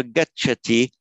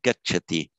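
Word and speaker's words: गच्छति: gacha teacher right um stress isn't that important in sanskrit but if i get chatty the stress would tend to fall more on the first syllable a very light stress get chatty and the meaning of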